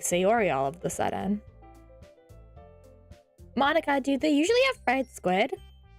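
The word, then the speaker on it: Monika: right in your name that's not how you say my name at all also that joke makes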